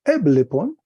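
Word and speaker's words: ἔβλεπον: Entonces viene una frase, dice así, el verbo ver eblepon, un espíritu suave y un acento agudo ahí en la misma sílaba, eblepon, entonces miraba, ¿qué?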